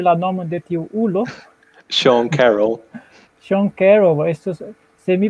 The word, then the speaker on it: Sean Carroll: Sean Carroll. Sean Carroll, estus, se mi prononcius gin, estus hontiga momento antaŭ la publiko.